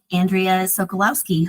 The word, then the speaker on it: Andrea Sokolowski: I see I think Andrea sokolowski whose name I hope I didn't mispronounce but it's possible what can I answer hi um yes you pronounced my name correctly thanks um so I'm